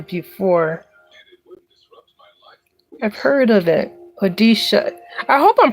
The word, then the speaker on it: Odisha: Odisha. I hope I'm pronouncing it right. Odisha.